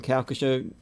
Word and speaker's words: Calcasieu: Mary Beth is a retired educator from Calcasieu Parish Schools.